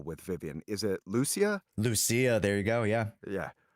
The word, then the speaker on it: Lucia: I really wanted to get what's the pronunciation of last pull with Vivian? Is it Lucia? Lucia, there you go.